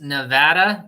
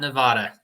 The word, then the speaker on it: Nevada: Rick say it again Nevada it's Nevada Nevada yes it's like uh tomato right no in the dictionary it has the mark over the a to to show that